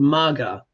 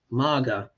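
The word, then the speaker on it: Magha: called Maga yeah Maga which is spelled m a g h a and you've heard me say before yeah what happens when you drop the H yeah you get Maga yeah virtually the same thing and sometimes sometimes things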